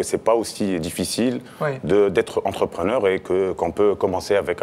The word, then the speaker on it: entrepreneur: dit entrepreneur en tunisien, ça se dit entrepreneur. Entrepreneur. Voilà. On peut rouler le R. On peut rouler le R. Entrepreneur. Et ça fait tunisien.